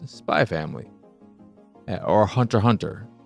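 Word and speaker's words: Hunter × Hunter: it's spy family or hunter hunter and I think ball pit is another example of the x is silent and in those titles in those shows spy family hunter hunter Hunter ball pit.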